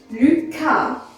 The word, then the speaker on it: Lucas: L-U, C-A, K, because A is a strong vowel. Lucas, and the S is silent.